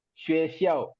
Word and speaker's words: 学校: இப்போ லொகேஷன் என்னன்னா நம்ம ஸ்கூல்ல அப்படின்ற மாதிரி சாய் ஷுவேஷியாவ் அதுக்கு அடுத்து வந்து வெர்பு வந்து பாத்தீங்கன்னா ஷுவே ட்ரோங்வன். சோ இந்த இது மட்டும் ஸ்டில் ஷுவே ப்ரொனவுன்ஸ் பண்ணுங்க.